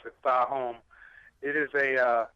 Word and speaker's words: Thaahum: So my artist name Thaahum. That's how you pronounce it, Thaahum.